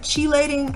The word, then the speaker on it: chelating: And people go, oh, what's that, chelating? I've heard it pronounced all kinds of different ways.